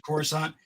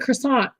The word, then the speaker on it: Coruscant: You got to see the ship, the silver one that goes to Coruscant, that ship. That's how you say it. I was calling it croissant because I'm like, I'm going to botch this name.